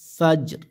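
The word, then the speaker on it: فجر: জবর ফাজর জেরি ফাজরি এই জায়গায় যেহেতু আয়াত শেষ আমরা থেমে যাব হবে কারণে কি হবে ফাজর ফাজর এরকম হ্যাঁ সালামুন এরকম লাইলাতিল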